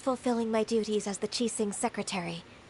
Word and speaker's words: Qixing: As expected of a Qixing member, he's actually helping Ganyu. Let's move then, to Yuhai Pavilion. Really gotta get used to that X being pronounced like an S.